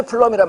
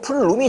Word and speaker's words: 플룸: 그러면서 불이 커지면서 이제 우리가 화재 플럼이란 말을 쓰는데, 원래 이제 플럼이 아니고 플룸이 정확한 명칭인데 그냥 플럼합니다. 근데 원래 발음은 플룸이 맞습니다.